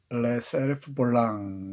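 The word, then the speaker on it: Les Cerfs-volants: 원제는 레 세르프 볼랑 이렇게 발음한다네요.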